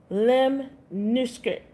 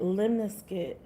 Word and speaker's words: lemniscate: lemniscate pronunciation lem-nis-kit lem-nis-kit lem-nis-kit lem-nis-kit That's how you say it, lemniscate.